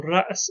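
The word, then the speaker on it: رأس: So ra's in the Quran would be pronounced ras.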